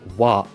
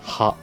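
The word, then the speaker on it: は: For example, "wa" is written with this character, which is normally pronounced "ha".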